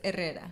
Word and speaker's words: Herrera: The H is silent, so it's Herrera.